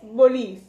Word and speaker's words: bolis: La normal es bolis, con B de burro.